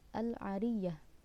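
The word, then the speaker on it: العاريّة: Menurut pendapat yang benar, yaitu dengan diberi tasydid pada huruf ya, maka dibacanya menjadi al-ariyah.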